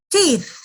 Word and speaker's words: teeth: Nah, ketika mengucapkan teeth, itu lidah, ujung lidah bagian depan itu seperti dijepit di antara gigi depan atas dan gigi depan bawah. Itu cara kita mengucapkan penggabungan antara huruf T dan H. Jadi bunyinya teeth.